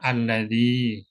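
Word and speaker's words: الذي: enggak ada tanda sukunnya bacanya sama alladzi panjang dua harakat apalagi yang lain misalkan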